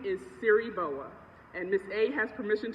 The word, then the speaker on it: Siriboa: But growing up, my name was taught to me that it was Siriboa, and I get all kinds of pronunciations and versions of that.